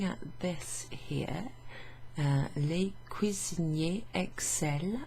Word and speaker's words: excellent: ends in ent, and so the ent is not pronounced in the il, elle form, in the plural they form. Excel. Ils excellent à faire ce mets, that means this dish, excellent.